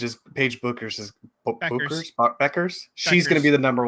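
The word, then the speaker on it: Bueckers: right buers Beckers yeah from Yukon bu e k RS y buer Beckers Beckers pronounced Beckers yeah that is correct Beckers ped buer day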